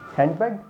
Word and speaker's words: handbag: it is handbag, no, it's handbag, handbag, d is silent here।